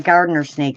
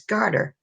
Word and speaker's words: garter snake: I'm not a big fraidy cat of snakes, but I had a gardener snake chase me once, and that is like A what snake?